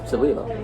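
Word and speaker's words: Celilo: Salilo, that's how you say it.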